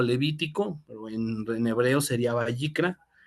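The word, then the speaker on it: ויקרא: Se pronuncia Vayikra, Vayikra, según lo que investigué. Entonces, nosotros lo pronunciamos en español como Levítico, pero en hebreo sería Vayikra.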